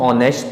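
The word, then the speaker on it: honest: ई एस टी ऑनेस्ट इसे हम ऑनेस्ट पढ़ते हैं नेस्ट नहीं होता यहां पर एच साइलेंट हो जाता है क्योंकि यह ओ से पहले आ रहा है इस कारण से य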